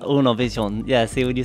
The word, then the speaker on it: Univision: This one, Univision. Univision, yeah, see when you said it that way. Uno, like number one. Uno. Univision. Univision.